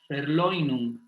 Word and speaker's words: Verleumdung: Y la renegación es la Verleumdung, porque el diptongo EU, como en Freud, no decimos Freud, ¿verdad? Entonces decimos Verleumdung.